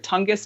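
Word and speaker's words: Tongass: You're in, pronounce it right, Tongus National Forest area, and so you can go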